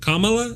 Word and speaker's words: Kamala: Kamala, is that right?